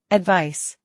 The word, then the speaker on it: advice: advice, 충고. 조언. advice, advice, 충고하다. 조언하다. advise, 충고하다. 조언하다. advise, advise, 충고, 조언은 명사로 advice라고 하고 충고하다, 조언하다는 동사로 발음이 advise입니다. advice, advise 기억해 주세요.